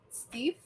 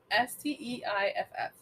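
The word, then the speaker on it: Steiff: so the one-of-a-kind doll was made by the steve steif company how do you spell it s-t-e-i-f-f steif yeah yeah company uh which is actually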